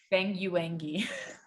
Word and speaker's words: Banyuwangi: I also just like knowing that like my grandfather grew up in Banyuwangi, East Java, Indonesia. Can you say that one more time? Banyuwangi.